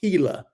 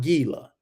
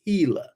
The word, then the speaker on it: Gila: So once again, IPC at the Hila River and that's pronounced Hila, not Gila. Okay, it's Hila as a H. It's like the G sounds like a H.